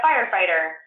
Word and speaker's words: firefighter: So there might be a book about a firefighter, and the word firefighter, you have to know about magic E, you have to know that IGH is, the GH is silent, but makes the I say I, and you need to